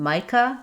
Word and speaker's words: Micah: In Micah, letter I says the I like in might and letter A says uh again.